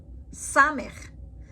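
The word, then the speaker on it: סמך: Samech. Samech makes an S sound, as in save.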